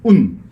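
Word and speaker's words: οὖν: 이 말을 헬라어로 운이라고 읽어요. 운.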